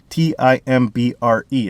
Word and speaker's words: timbre: The other thing about pickup location is timbre. Okay, T-I-M-B-R-E. It's spelled wrong, but it's timbre.